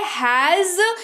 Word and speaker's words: has: इसको हैज पढ़ते हैं, जो और कि जो के नीचे बिंदु लगा हुआ है, यानी कि इसको नुक्ता कहते हैं, जिसकी वजह से इसका जो उच्चारण है वो ज हो जाता है। तो आप इस बात का ध्यान रखेंगे कि हैज पढ़ेंगे, हैज नहीं पढ़ेंगे इसको, ठीक है, हैज पढ़ेंगे इसको।